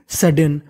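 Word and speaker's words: sudden: और इंग्लिश का एक रूल होता है कि अगर कोई भी लेटर यानी कोई भी अक्षर अगर दो बार लिखा है तो उसका उच्चारण एक बार करना है। यहां पे भले ही डी दो बार लिखा है लेकिन इसे पढ़ना केवल एक ही बार है। तो मीनिंग बन गई सडन।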